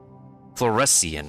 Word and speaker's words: fluorescein: sign floor sign how does the ipa pronounce it fluorescein okay an orange red